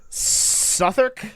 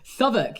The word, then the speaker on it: Southwark: Southwark? Southwark, yeah. Oh, most people say like Southwark. Well, yeah, it's spelled Southwark.